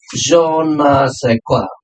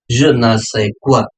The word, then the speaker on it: je ne sais quoi: With the question number 15, it's a je ne sais quoi, right? This is what been pronounced as a je ne sais quoi.